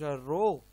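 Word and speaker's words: ρ: तो resistance is denoted by are, resistivity is denoted like this and इट is pronounce रो।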